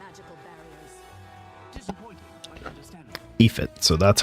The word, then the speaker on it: Aoife: Ephit, so that's how you say it.